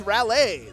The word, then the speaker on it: Raleigh: Patchwork taking place in I don't know how to pronounce that. Relay. Rally. That's Lei, my friend. That's Raleigh.